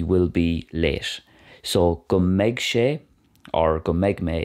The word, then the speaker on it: mbeidh: Pronounced meg like a girl's name.